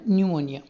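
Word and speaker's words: pneumonia: Then जो very commonly spelling है जो आपसे बहुत ज़्यादा पूछी जाती है, देन है न्यूमोनिया, ठीक है।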